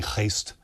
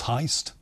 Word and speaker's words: Heijst: You see, I was trying to do the authentic, and I was getting it wrong by saying Heist. It's Heist. Okay. It's heist, you know, like a bank robbery, but exactly.